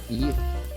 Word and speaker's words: gift: Gift. Gift? Gift. Gift. So sometimes G, for some ungodly reason, is pronounced like yeah.